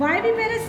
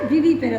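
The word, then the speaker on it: viviparous: Now second type and those that give birth are called वाइविपेरस या विविपेरस. Both pronunciation are correct.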